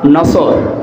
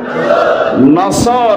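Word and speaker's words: نصر: নিয়ে আমরা তাফসীরুল কোরআন মাহফিলে প্রবেশ করছি সূরা নসর কোন সূরা বলেন বলেন নসর না নাসর নুন সোয়াদ র নাসরুন শব্দের শাব্দিক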